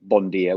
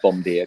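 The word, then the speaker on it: bonjour: made fun of me when i tried to say bondier which is good morning i said bomb beer because it's spelt differently but i just thought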